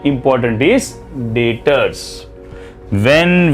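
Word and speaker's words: debtors: मैंने सामान बेचा और आपसे पैसे मिलने बाकी है, उसको B silent, it इज नॉट डेप्टर्स, इट इज डेटर्स।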